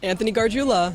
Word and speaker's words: Anthony Gargiulo: This is how he says it. Anthony Gargiulo.